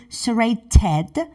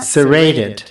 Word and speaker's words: serrated: So yeah, they are pronouncing T exactly like T. So serrated. And in American form, they are serrated. Saying serrated. Yeah, that's the difference between American and British.